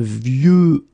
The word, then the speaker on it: vieux: And the last one is vieux, old, un vieux arbre. Okay, of course you've got this X at the end, but you don't pronounce it.